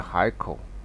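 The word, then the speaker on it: 海口: a very important here we pronounce a haiko now you see the pronunciation here um Fai now my mouth gonna put here but it's really h a i kou if you pronounce according to this you'll be high call that is very awkward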